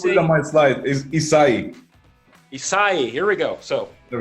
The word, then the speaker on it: Issaei: I'm I'm still scared of pronouncing your last name wrong yeah I might slide is acai acai here we go so there we go the